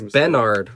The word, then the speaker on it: Benard: has like had a burr yeah so it's bennard this one's benard i like ben hey tyler